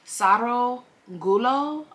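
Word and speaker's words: Sarogullo: and her husband um Saro gulo I believe that's how you pronounce his name s-a-r-o-g-u-l-l-o so um it begins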